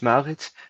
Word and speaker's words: Maurits: It's Moritz, if I pronounce it right. Moritz, please ask your question. Thank you for the opportunity to speak during this conference. My name is Maurits.